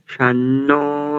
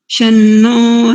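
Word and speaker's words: शं: ओम इंद्रो विश्वस्य राजति शन्नो अस्तु द्विपदे शन्न चतुष्पदे। शन्न नहीं करेंगे, केवल शन चतुष्पदे ऐसा करेंगे ना, शन्न थोड़ी ऐसे।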